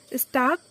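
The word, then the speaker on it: stalk: छानबीन या फिर जांच स्टाक एस टी ए L case में एल जो है वह साइलेंट है स्टाक मतलब होता है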